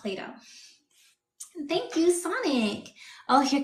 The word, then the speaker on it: Plato: that's how you spell his name but it's pronounced Play-Doh thank you Sonic oh here comes another one